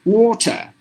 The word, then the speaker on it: water: in the sentence water when you say this word individually the letter R is silent so you have to pronounce the word as water but if you put the same word in a sentence the r is pronounced because the r is followed by a vowel which is I so a bottom line